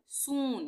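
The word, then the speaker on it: soon: S double O एन सून। यानी कि इन सब में बड़े ऊ का उच्चारण हो रहा है।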